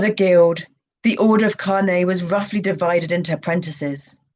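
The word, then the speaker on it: Kāne: shamans ku lono and kane pronounced carne we got it right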